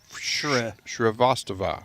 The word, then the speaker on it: Shrivastava: Did I say it right? Shrivastava. Shrivastava, right? There you go.